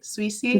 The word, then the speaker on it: Souissi: Souissi? Yes, Okay, Susie. Souissi.